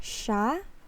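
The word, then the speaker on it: sya: going to watch and here shah is like he or she in in english it can be spelled like this one s y a or in a formal setting we put i it's like ya see ya this is the formal and this one is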